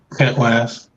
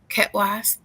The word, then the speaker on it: Khet Waas: Khet Waas. Khet Waas.